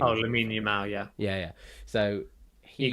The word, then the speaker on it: Lamine Yamal: No, Lamine Yao. How do you say his Oh, name? Lamine Yamal, yeah, Yeah, yeah.